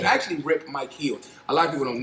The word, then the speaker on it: Micheals: people don't know that it's not rip Michaels it's actually rip Mike heels a lot of people call me rip Michael because me trying to explain to people time I got yeah I said it wrong so it's Mi i h e LS because when I found